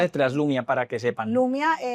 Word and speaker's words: Lumia: Lumia, así tal cual como se escribe.